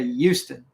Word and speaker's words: Houston: is its own country pronounced Houston with a why for those of you that don't know Houston when you if you're local you don't stay it with an H you say Euston am i right fat